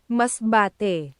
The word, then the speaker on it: Masbate: Mazbate. Mazbate. Thank you. Mazbate. Thank you guys so much for the uh pronunciation there. Let me just make sure. Masbate. Mazbate.